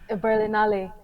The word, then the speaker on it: Berlinale: Before we start, let me know, did I pronounce Berlinale correct, or was it Berlinale? Berlinale.